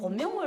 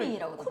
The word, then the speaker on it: 쿤밍: 근데 곤명을 쿤밍이라고도 말하죠. 그렇게 하더라고요. 우리는 북한식 발음으로 그럴 때 연길, 곤명 무슨 이렇게 지금도 나는 곤명 하는데 그렇게 안 불러 막 이러더라고.